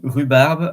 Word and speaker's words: rhubarbe: Well, I don't know if in English you are saying rhubarb or rhubarb, but it's just to know that the H is silent in French, and at the beginning of the word also.